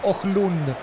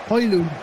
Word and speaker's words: Højlund: Toca para Højlund. ¿Cómo se pronuncia bien? Højlund. Højlund.